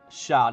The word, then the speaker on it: Shah: So, Shah, not Shay.